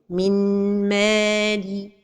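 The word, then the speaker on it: من مال: L'erreur et la prononciation sont données de temps pour la ghunna. Mimmali. Ou bien, une autre erreur, c'est de prononcer an-noun. Min mali. Et an-noun n'est pas prononcé dans ce cas. Donc, la prononciation correcte est min mali.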